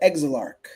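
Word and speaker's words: Exilarch: The exalarch.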